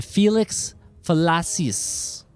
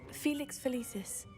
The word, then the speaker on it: Felix Felicis: The Felix fellas. I probably butchered that. I thought that was the cat po. The cat potion, right? Felix Felicis.